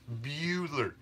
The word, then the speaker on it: Bueller: B-U-E. Is pronounced Bueller. Beeler. Beeler would be B-E-U.